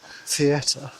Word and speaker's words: theatre: Theatre. How many syllables in the word theatre? Theatre. How many syllables in the word theatre? Theatre. 2. Why are you saying it was 3?